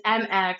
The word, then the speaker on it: Mx: And it's MX, and it's pronounced like mix.